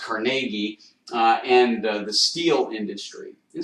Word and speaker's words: Carnegie: This is Andrew Carnegie, or actually pronounced Carnegie, and the steel industry.